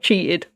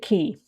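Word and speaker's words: Qi: Oh no, he didn't realise that we've cheated. Never mind. It's fine. He doesn't know. But just nobody tell him. Most people say Mr. Cheat. Fair enough. Oh, I pronounce it Key.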